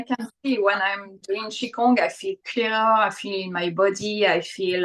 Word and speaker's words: Qigong: I know that you touched on Qigong. Am I saying that correctly? Qigong? So we pronounce Qi, like CHI, almost Qigong.